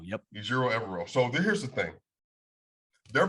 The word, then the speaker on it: Ejiro Evero: So it's Ejiro Evero. That's how you pronounce his name, by the way? Just trying to make sure I get it right. Ejiro Evero, yep. Ejiro Evero.